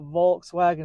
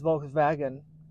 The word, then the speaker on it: Volkswagen: correct however with Volkswagen Germans do not say W's they put V's where W's are so it's not Volkswagen it's Volkswagen it gets even more